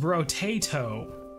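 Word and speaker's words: Brotato: Is pronounced bro-tato.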